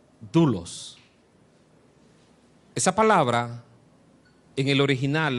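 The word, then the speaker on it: δοῦλος: Se pronuncia doulos.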